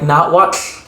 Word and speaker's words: Nahuatl: That language in English we call Nahuatl. In the language itself, it's pronounced more like Nahuatl.